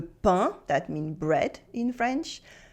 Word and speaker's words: pain: AIN as un for le pain, that means bread in French.